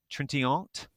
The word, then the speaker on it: Trintignant: I'm going to try this French pronunciation. Jean-Louis Trintignant. Trintignant.